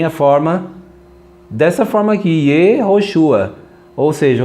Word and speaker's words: Yehoshua: Aqui, olha, Yehoshua. pronunciado Yehoshua.